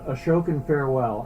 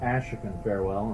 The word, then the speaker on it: Ashokan Farewell: we are starting off with a tune entitled ashokan farewell and the funny thing about this piece is that i used to mispronounce it all the time i would call it ashikan farewell and that is the wrong pronunciation but as